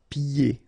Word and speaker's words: pieds: So final S here and then final S here is not pronounced. And then when you get this combination here, it's ye. Pieds. Okay, so you don't hear the D.